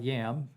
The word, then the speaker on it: yam: about compassion love and that was yom kind of spelled like yam y-a-m-yam okay okay and your affirmation